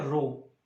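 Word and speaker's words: rho: ठीक है, तो देखो बच्चों, इस रोने वाले नंबर की या रोने वाले क्वांटिटी की बात करते हैं। ठीक है, resistivity symbol is pronounce as रो।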